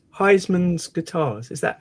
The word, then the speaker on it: Huysmans: And it's Heismann's Guitars. Is that how Is that correct pronunciation? the last name is actually Hausmann's.